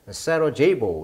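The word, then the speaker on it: Sarajevo: 이렇게 나와 있고 굉장히 아름다운 도시가 이제 사라예보가 되겠죠. 영어식 발음은 강세가 뒤에 있네요. 3음절에 사라제이보 이렇게 읽습니다.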